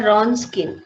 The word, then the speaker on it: Wronskian: Now we have to find the Wronskian. Wronskian formula is W means Wronskian, WROSKIN. Here W will become silent, so we just spell it as a Wronskian method.